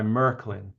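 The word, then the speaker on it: Märklin: So I'll be very brief here, but um standard O gauge was introduced by Merkelin, that's how you pronounce it.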